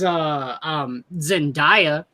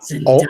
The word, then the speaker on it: Zendaya: Spider-Man doesn't care because he has Zendaya. Coleman. Say her name right. She's a perfume. No. Zendaya.